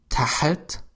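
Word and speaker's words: تحت: Another good example is the word tahat with Ha, which means under.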